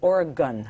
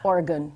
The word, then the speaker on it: Oregon: If you don't say Oregon, when I first got out there, I thought you have to pronounce all of the vowels because the vowels are lovely.